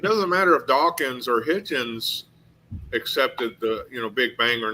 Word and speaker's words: Hitchens: Yeah, say his name Hutchins? is Hitchens. Hitchens, His name was moron. Hitchens. I mean, for as famous as he is, you should get his name right, you know?